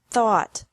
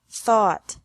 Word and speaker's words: thought: Think, thought, thought. Remember that the G is silent in these verbs.